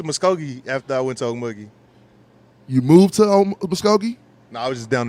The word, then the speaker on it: Okmulgee: Okmulgee, Oklahoma.